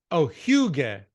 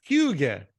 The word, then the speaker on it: hygge: And it's pronounced, thank you for writing down the pronunciation. Osa. Hygge. Hygge.